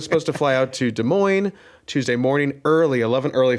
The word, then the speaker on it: Des Moines: much, I was supposed to fly out to Des Moines Tuesday morning, early 11 early flight, get out of it, do all that stuff.